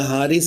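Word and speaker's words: Haris: आप देखिएगा है या हारिस अगर उर्दू बोलेंगे तो हारिस हो जाएगा।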